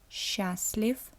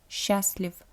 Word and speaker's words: счастлив: I also pronounce the word счастлив with the f sound at the end. I don't pronounce счастлив. We usually tend to change the last vowel. If it is the voiced vowel, it's common for the Russian language to change the voice vowel into the voiceless one.